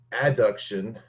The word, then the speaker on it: adduction: and hyperextension and circumduction a deduction a b duction notice i said a d and a b adduction is how it's actually pronounced and abduction is how that's